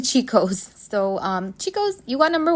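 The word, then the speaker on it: Cico's: So I said Chico's or Kiko's, but it's actually Chico's.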